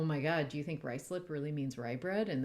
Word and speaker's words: Ruislip: The important thing is rice, as the component at the beginning, is now spelled R-U-I-S in the place name and pronounced rice, which of course I mispronounced until I heard Biblaridian say it out loud.